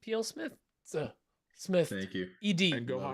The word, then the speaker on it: plsmithed: and uh go follow PL Smith Smith Ed there is an e in there there's no it's not silent e or whatever just there's an e